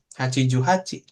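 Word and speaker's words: 八十八: Kalau 88 88 Hiju Hachi. Heeh. Hachiju Hachi. Karena 8 delnya ada 10 kali berarti HCI tambah Ju tambah HCI lagi gitu. Karena HCI yang terakhir buat satuan kan seperti itu.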